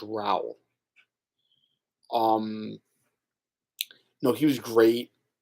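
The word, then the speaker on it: Raoul: Raul it's funny I keep thinking his name's Raul but it's actually pronounced Raul um no he was great um I I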